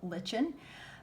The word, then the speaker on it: lichen: Now, it's spelled L-I-C-H-E-N, which would seem to be spelled lichen, but it's actually pronounced lichen.